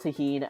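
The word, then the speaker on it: tahini: Like, my wife bought a big bottle of tahine and I don't know what to do with it.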